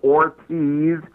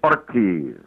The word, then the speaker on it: Ortiz: in their own country, by rolling the R's. Instead of Ortiz, it's Ortiz. It's Rodriguez.